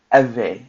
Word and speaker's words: Ewe: Sometimes things that are how you say it is not how, like, for instance, in Ghana, when we say Ewe, it's W-E, no, E-W-E, but it's actually V, right?